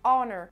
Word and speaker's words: honor: à côté parce que ce mot-là se dit honor, honor. En fait, il y a un truc qui se passe dans la gorge si vous essayez de le prononcer comme ça, c'est vous avez l'impression qu'en fait, votre langue va beaucoup plus toucher le fond un petit peu de votre palais. Et du coup, honor, honor, honor.